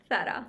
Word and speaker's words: Zara: They joke with me a lot because Okay, so Zara is Sara, really. Sara. That's the real Spanish pronunciation.